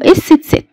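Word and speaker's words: ß: اما بقى الحرف الزايد اللي ما خدتهوش في الانجليش واللي هو عندنا اسمه اس تست، الحرف ده عندنا اسمه ايه؟ اس تست.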